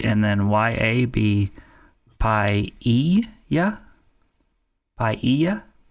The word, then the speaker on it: paella: Paella is how you pronounce that. Paella. I mean, I'm going to trust him, but it's got the two L's.